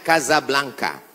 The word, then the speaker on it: Casablanca: nama negaranya Maroko ibukotanya tulisannya Casablanca cara bacanya Kasablanka Kaza artinya rumah Blanca